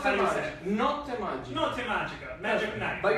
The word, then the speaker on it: Notte Magica: Notte Magica. Magic night. But you right? have to say not It's magic. Notte Magica.